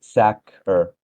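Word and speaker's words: Saqr: Uh, it's pronounced uh sakur with a soft a like sacker.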